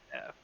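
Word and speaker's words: Geff: Jeff. Jeff. G-E-F. Jeff. Jeff. Jeff. Yeah. Jeff. It's pronounced like a J, but it's G-E-F-F.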